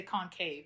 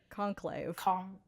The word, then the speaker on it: Conclave: Ralph Fiennes and I was going to say Concave, but that's definitely not it. Conclave.